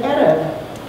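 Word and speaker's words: ערב: She said, Erev, if you spell that Jewish word, that Hebrew word, in our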